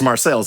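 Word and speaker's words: Marseilles: she got you love it's marceles it's Marcel's Illinois I I never knew there was another way to pronounce that word until later yeah um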